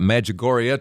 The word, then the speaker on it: Medjugorje: of The Visionaries Maria as I say medjugori is it's spell it just it's just like it sounds Med j-u-g-o-r-j-e pilgrimage.life Aaron